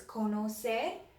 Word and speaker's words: conocer: erase this while I do that you practice pronouncing sorry the other verb in Spanish that means to know is kono say so I'll set up a me oh say